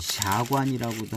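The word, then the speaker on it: 下关: 그냥 하관 초창기도 하는데 중국 발음인지 사관이라고도 하잖아요 샤관 타차 차관차창 뭐 이렇게 하는게 다 사관인가 봅니다 보이차를 처음 접하시는 분은 사관이라고는 이건 뭐 다른 건가 생각할 수 있는데 사관이 하관이고 그런 거가 되겠습니다 저도 헷갈렸어요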